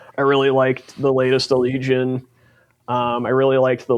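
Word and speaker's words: Allegaeon: It's It's pronounced Alleion. Allegian. Sure. Great. Allegian. Fantastic. I love I used to I used to go on other podcasts and I would say Allegion all the time until Riley corrected me that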